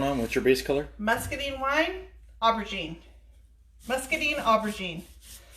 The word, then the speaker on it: Muscadine: Basically rhymes with wine. Muscadine.